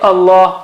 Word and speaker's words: Allah: When the word Allah is preceded by fatha or dhamma, then it is thick. Like fatha case, we just saw it, Allah or wallah, wallahi, and you say it like the English word something like law. You practice law or lawyer. You don't say liar, or liar will become something else. You don't say liar or la.